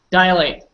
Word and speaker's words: dilate: to say it fast dilate sounds like a dial like from a telephone but it's not Miguel